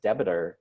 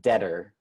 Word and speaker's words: debtor: the concept of creditor versus debitor or debtor thank you I wrote the wrong thing as I keep saying it wrong okay so from what